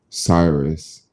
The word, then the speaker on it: Cyrus: they required to bro my name is pronounced cyrus like the bible cyprus like the bible